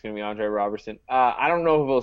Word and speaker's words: Roberson: It's just Robertson without the T. But I think it's going to be Jeremy Lamb. I do not think it's going to be Andre Roberson.